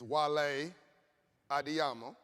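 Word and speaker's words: Wale Adeyemo: And I want to say his name is not Wale, it's Wale Adiyamo.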